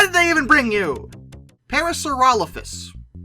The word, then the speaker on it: Parasaurolophus: they even bring you Parasaurolophus which I consistently mispronounce as parasols like a fool but Parasaurolophus was mentioned